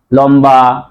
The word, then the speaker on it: লম্বা: ব ফালা ছিল কিন্তু মনে রাখতে হবে যে ম এর সাথে যদি ব ফালা যুক্ত থাকে তাহলে ব এর উচ্চারণ বজায় থাকে যেমন লম্বা আরেকটা জিনিস দেখো আমরা